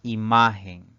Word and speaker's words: imagen: la siguiente palabra es imagen imagen tiene tres sílabas la mayor fuerza de voz al pronunciar esta palabra recae en la penúltima sílaba es una palabra grave